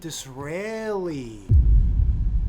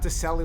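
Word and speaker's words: Disraeli: Uh oh, Benjamin Draeli. Yeah, not Delli like the captain Draeli.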